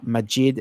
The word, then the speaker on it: Maajid: It's Majid. It's spelled Maajid, Majid Nawaz, which is Nawaz.